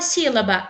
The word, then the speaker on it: sílaba: O sílaba. Vemos que é o si. A sílaba mais forte. Ela foi pronunciada de uma maneira mais forte.